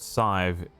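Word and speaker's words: Sadhbh: horrific Sadab is pronounced scythe. It's an Irish name.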